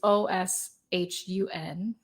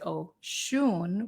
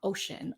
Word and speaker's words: Oshun: So Oshun is this, it's Oshun, and you pronounce it Oshun with the emphasis on the shun. It's not ocean, although it's kind of a nice.